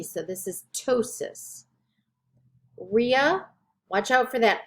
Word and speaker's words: ptosis: phobia plasia plasti ptosis when you have p in front of a t you don't pronounce the p you just pronounce the t so this is ptosis rhea watch out for